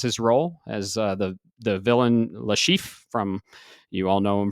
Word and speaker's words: Le Chiffre: Le Chef? Le Chiffre.